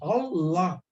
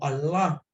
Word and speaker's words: Allah: Se pronuncia culturalmente, es Allah o Allah.